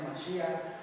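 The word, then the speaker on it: מָשִׁיחַ: En hebreo así se pronuncia Mashiach.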